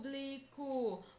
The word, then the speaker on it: público: mais intensa dessa palavra para saber qual é a sílaba mais forte da palavra público Basta apenas pronunciar lentamente essa palavra como se estivesse chamando alguém público percebo que a sílaba que mais demora a ser pronunciada é por puto público portanto por é a sílaba tônica é a sílaba intensa